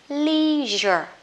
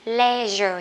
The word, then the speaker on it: leisure: mà không phải nhé, từ này giống kiểu gốc Pháp á các bạn, thế cho nên nó sẽ đọc là leisure. Leisure hay là sẽ đọc là gì đây? Leisure nha các bạn nhé. Người Mỹ thì thích đọc là leisure, còn người Anh thì thích đọc là leisure. Từ này thì cô Huyền thích đọc theo kiểu Mỹ là leisure các bạn nhé.